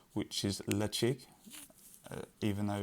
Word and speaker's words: Ledaig: which hopefully I'll get this right, which is Ledaig, even though it's not spelt that way, Ledaig, but hopefully I've got that right. They pronounce it as Ledaig, and then it was kind of reopened and